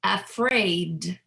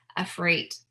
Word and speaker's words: afraid: Now, let's do the /D/ "afraid" "bad" "bread" "outside" "cried" So I'm really pronouncing that last sound as a voice sound right because /D/ is voiced so it's not "afrait" or "bat" it's not "breat" "outsite" So it's something to